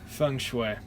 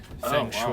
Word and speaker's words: Feng Shui: Feng Shui. I had no idea how to spell it, so in my notes it's spelled Feng as in F-U, like fungus, F-U-N-G, and then Shui as in S-H-W-E-Y.